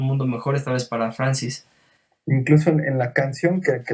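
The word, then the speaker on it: Frances: en 1993 ya que este Francisca digamos francés Francis sí Francis ese era el pronunciación adecuada tiene razón Francis nace y cambia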